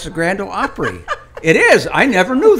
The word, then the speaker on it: Opry: And she's, you're saying that wrong. I said, what do you mean we're saying it wrong? That's the Grand Ole Opry. Opera, right?